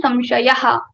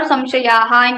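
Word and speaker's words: संशयः: The word is samshaya and we put visarga, it becomes samshayaha or samshayaha in Maharashtra.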